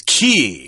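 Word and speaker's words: cay: title of our featured book, the K uh K here, we're going to stick with that pronunciation because it is in the dictionary, but you will also see uh the word K, C A Y, pronounced as key, which is kind of weird, but uh some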